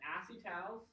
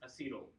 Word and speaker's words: acetal: Another side fact, some people call this acetyl. And I refuse to pronounce it acetyl because that's like they're saying YL. We already have that for things like acetyl chloride. Or biochemist people, acetylcholine. So I try not to pronounce it as acetyl, and I try to pronounce it as acetal.